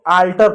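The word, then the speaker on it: alter: इसको आल्टर पढ़ेंगे, आल्टर। अब यहाँ पर एल पढ़ेंगे क्यों, क्योंकि एम तो है नहीं, इसलिए आल्टर पढ़ेंगे।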